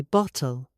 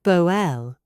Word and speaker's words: bottle: Say bottle, not boel.